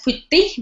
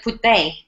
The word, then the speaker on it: Putte: You don't say that as Putti, but Putte.